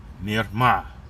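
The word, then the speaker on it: מִרְמָה: And I'll get a pronunciation for you for the word Strongs H4820. Mirma, Mirma, Mirma.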